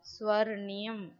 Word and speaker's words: स्वर्णियम: See children, again that ra came. So ra we will pronounce which letter it is joined. Before that letter we will read. So first we will read swa. Ra, ni, yam.